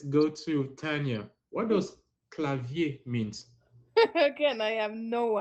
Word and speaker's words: clavier: mean and just to let you know something clavier that's how you pronounce it clavier what does it mean set password password okay